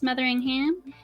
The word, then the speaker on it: Metheringham: We've got Jess Metheringham and Mil Goble. Am I pronouncing that right?